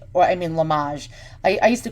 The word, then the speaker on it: Limoges: let's zoom on that okay this is antique Limoges or I mean lamaj I used to call it Limoges before I looked up the pronunciation but you